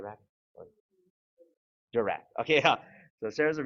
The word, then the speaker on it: DiRAC: Am I saying pronounce it right? DiRAC? DiRAC.